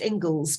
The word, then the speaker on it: Inglis: It's spelt Inglis and is pronounced Ingles, but it means English. Right. So Ingles, Mongols.